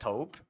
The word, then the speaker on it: taupe: How is top pronounced? Is it- It's just taupe? Okay, taupe.